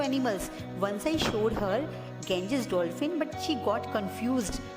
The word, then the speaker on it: Ganges: बेटे इसकी pronunciation है ना, Ganges होती है. Okay, गंगा से बना है, Ganges.